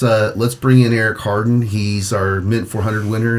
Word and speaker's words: Hardin: San Felipe Let's uh let's bring in Eric Hardin he's our mint 400 winner and uh have